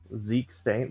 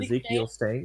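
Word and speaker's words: Zeke Stane: Zeke Stain, that's good. That's fine. Ezekiel Stain, yeah.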